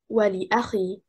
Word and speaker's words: ولأخي: The stress is on حركة الواو and حركة الهمزة. The first and third حركة.